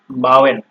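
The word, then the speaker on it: bauen: তারপরে হচ্ছে এ এবং ইউ, এই দুইটা যখন আপনার একত্রে ব্যবহৃত হবে কোনো ওয়ার্ডে পাবেন আপনারা, তো সেই ক্ষেত্রে এটার উচ্চারণ হবে আও। ঠিক আছে, যেমন বাওয়েন, বাওয়েনে আপনার এ এবং ইউ যোগ হয়ে ওয়ার্ডটা তৈরি হয়েছে।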